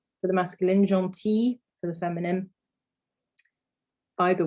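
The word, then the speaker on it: gentille: form of this adjective when it is feminine it is about g e n t i double l e and it's pronounced exactly the same so jean for the masculine john t for the feminine by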